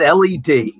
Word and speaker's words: Led Zeppelin: Because if it had been LEAD Zeppelin, they figured Americans will call us Lead Zeppelin. So let's make it LED. Yes, it's grammatically incorrect, but at least it'll be pronounced right.